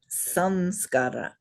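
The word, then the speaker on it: saṃskāra: So it's not just sa in this case, it's sam, because the anusvara is pronounced right?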